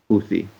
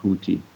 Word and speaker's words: Houthi: and by the way it's pronounced Hui it's huon huon is the Arabic word not hooti um like hooti and Blowfish and uh and it